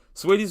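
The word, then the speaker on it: Saweetie: Sweetie's verse is that, or I keep pronouncing her name like it's spelled, even though it's just Sweetie. It's just spelled funny.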